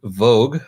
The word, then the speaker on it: Voogd: Amanda Vogue, pronounced Vogue or Vogue.